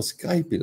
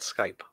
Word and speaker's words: Skype: Which is also available for Skype lessons. It's not Skype, it's just called Skype. You don't pronounce the E.